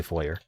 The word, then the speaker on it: foyer: Also, some people say foyer, and it's perfectly fine.